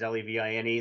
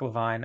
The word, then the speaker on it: LeVine: spell it they realize Levine is Levine Levine they're probably wondering is it l-a-v-i-g-n-e like Avril Lavigne or something like that